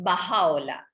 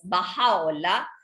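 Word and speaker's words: Bahá'u'lláh: Entonces, dentro de esa cadena, el más reciente que tenemos ahora es Baha'u'lláh. Se escribe con B grande, A-H-A-L-L-U-L-L-A-H. Es Baha'u'lláh.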